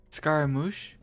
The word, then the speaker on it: Scaramouche: do you say that scaram moche there's so many different languages on how you could pronounce that it's all mixing together in my mind Scaramouche got it got it